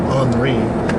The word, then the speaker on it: Henry: Americans but it's pronounced Henry cuz that's how the French say things I can speak French